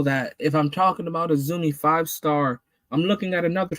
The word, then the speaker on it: AZM: It is not AZM, you fucks. It is Azumi.